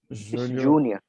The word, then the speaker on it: Julho: Julho. Júnior. Julho is pronounced the same as the name.